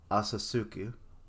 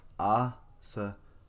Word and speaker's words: Asakusa: Asasuku, or Asakusa. That's it.